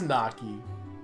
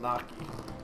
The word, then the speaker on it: gnocchi: But my family always pronounced it gnocchi. Also, I can't be blamed for pronouncing it Naki because there's no I in there.